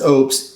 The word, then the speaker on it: Oupes: Lopez or up and nobody knew exact how to pronounce this word so now it's official this is Ops and they're trying to